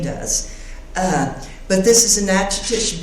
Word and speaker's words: Natchitoches: But this is a Natchitoches bowl, or Nushtush is the way the Caddo pronounce it.